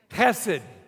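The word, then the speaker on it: chesed: write it you know when you pronounce Hebrews it sounds gross but it's almost like a dog who's a little bit sick cassidy guess it and don't spit on the person in front of you i'll say it again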